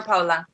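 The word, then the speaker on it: Paola: recently, and then you have, how do you pronounce his name? Power Paula? Power Paula? Paula. It's Paula.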